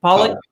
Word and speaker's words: Polak: Is it Polak? Is that how you say it? Polak?